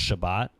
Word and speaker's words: Shabbat: So they pronounce the S's as T's, so it's Shabbat.